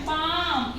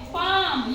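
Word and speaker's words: palm: है साइलेंट होता है जैसे प ए एल एम पाम इसको हम बोलेंगे पाम यहां पर हमने पाम बोला है एल का यूज नहीं किया ठीक है एम से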